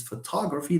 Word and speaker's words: photography: ultimate penultimate anti penultimate that's why we say photography if someone comes and say I like photography you look like French my friend when you say it like that or someone says I like photography do you speak like this photography you are Italian or you I like photography no it's photography that's the natural way of pronouncing this yes yes yes but